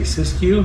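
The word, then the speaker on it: Siskiu: Uh, this is a Polygon Syscue T7. S I S K U. Are you you say Syscue? Yes. Okay. I can spell that.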